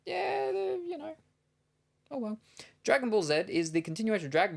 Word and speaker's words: Dragon Ball Z: in their language so they opt to pronounce the letter Zed as zetto which is closer to zed than Z yep yeah so we're